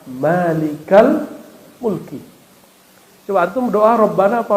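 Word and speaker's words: مالك الملك: kali dua kata maka tidak dibaca Malikul Mulki bacanya Ya malikal Mulki coba Antum doa Rabbana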